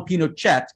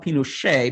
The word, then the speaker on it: Pinochet: augusto pinochet um who whose name is pronounced in french even though he was even though he was chilean it's a long story everybody some people call him pinochet but actually he called